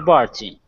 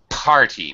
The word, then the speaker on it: party: of James at the party okay party make sure I hear a p it's sounding like a b so yes okay make sure I hear that aspir party okay thank you H